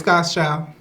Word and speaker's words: GVDS.XLD: Because everybody be like GVD, yeah, it's God's Child. GVDS.XLD is God's Child.